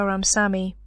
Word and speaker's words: Ramsawmy: This is Ramsawmy. The W is silent.